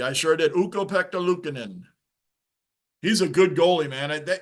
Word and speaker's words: Luukkonen: It just took me a while to learn how you properly pronounce UPL's name. Ukko-Pekka Luukkonen. Luukkonen, yeah. I don't know if I pronounced the first 2 parts right, but yeah, it's Luukkonen.